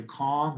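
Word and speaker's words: Kang: done by professor jerry kong it looks like kane but it's pronounced kong at the ucla and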